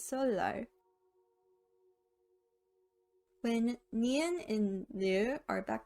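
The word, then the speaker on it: 설날: assimilation this can be seen in solar which is the korean new year so and now so no is pronounced as solo when nian and leo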